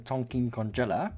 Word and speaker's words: Donkey Kongella: His name is Donkey Kongella. Donkey Kongella. That's how you say his name. So if you ever see him, you pronounce it like that.